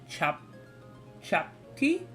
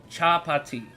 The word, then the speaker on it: chapati: Chapti? I'm not sure if that's exactly how you pronounce it. Made of flour. That sounds really good. That sounds really, really good. Chapati. Okay. Thank you for correcting me.